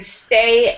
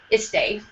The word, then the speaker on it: stay: So with stay, especially if your first language is Spanish, it's important to make sure you are saying stay and not estay.